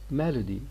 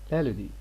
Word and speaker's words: melody: For example, in these words, this word is pronounced as melody. Look, here we have got a schwa after L, melody.